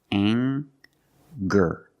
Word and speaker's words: anger: We have the nasal sound plus the hard G, the G sound. Together, anger. Anger.